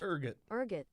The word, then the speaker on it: ergot: It's spelled ergot. It's a type of ergot. Ergot.